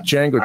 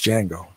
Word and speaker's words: Django: name son oh name's django how do you spell that dj ngo the d is silent yeah i know i'm